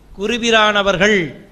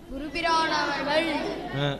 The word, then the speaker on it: குருபிரானவர்கள்: இந்த இடம் தான் நிறைய பேர் தவறு பண்ண இடத்த சொல்றேன். குருபிரானவர்கள் அப்படி கல் அல்ல. கல் என்பது இந்த இல் கள். குருபிரானவர்கள். குருபிரானவர்கள். நார்மலா அவர்கள்னு சொல்றோம்ல, சொல்லுங்க அவர்கள். இல் அழுத்தி வரணும், அவ்வளவுதான். எப்படி சொல்லணும்?